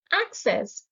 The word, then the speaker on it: access: antonyms mask divert access the stress is on the first syllable access is a noun which